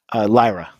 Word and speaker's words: Lyra: Is it pronounced Lyra or Lyra? Lyra. Okay, there we go.